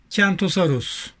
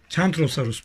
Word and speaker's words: Kentrosaurus: Kentrosaurus. Kentrosaurus pardon. Kentrosaur diye okunuyormuş Türkçe'de. Kentrosaur diyelim o zaman.